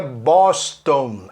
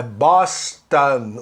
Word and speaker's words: Boston: Esse ON para americanos, a pronúncia é an. Então, guarde isso. Vou dar umas palavrinhas que os brasileiros pronunciam on e quando deveria ser an. Por exemplo, Washington, não é Washington. Não é Boston, é Boston, o nome da cidade. Não é Johnson, é Johnson, ok?